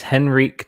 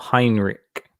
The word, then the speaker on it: Henrik: uh let me see it's henrik not heinrich what's that about is